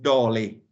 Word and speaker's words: dålig: We say dålig, and how I can pronounce it is just dålig. Then you have the li, which is li. So it's something that it's like something. It's lig, but it can also be li.